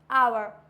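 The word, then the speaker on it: hour: ऑनर, for example ऑनर, आवर क्या होता है, honest, ऑनर, आवर, eco. Clear हुआ? ये वर्ड्स ऐसे हैं जिसमें एच होता है साइलेंट।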